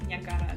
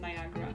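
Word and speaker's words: Niagara: the nagara it make it just makes sense to pronounce it that's nagara not Niagra anyway that was that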